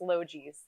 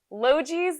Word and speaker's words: Logee's: And you know, that's a really easy way to remember how to pronounce Logees. Logees, the plant OGs.